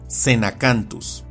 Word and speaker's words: Xenacanthus: baryonyx, o como con el género que se pronuncia y castellaniza como Xenacanthus.